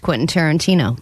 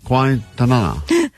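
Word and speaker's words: Quentin Tarantino: Vanessa has never seen a Quinton Tarantino movie and she's never successfully pronounced Quinton Tarantino. That's true. all week as she's been talking about this prize we have. She's been saying quasa quainton quaintana. So quinta nana.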